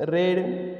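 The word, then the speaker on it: read: रीड त्याचं तिसरं रूप रेड बघा स्पेलिंग सेम आहे उच्चार वेगळा असतो रीड रेड आणि रेड क्रियापदाचं वाचन अशा प्रकारे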